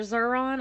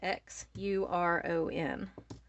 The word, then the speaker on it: Xuron: me every single video they're zuron i get them from amazon and it's spelled x-u-r-o-n okay xuron tools from amazon